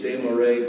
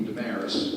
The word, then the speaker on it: Desmarais: The French pronunciation is Desmarais, but we've anglicized it to be Damaris, and Damaris works just fine for me.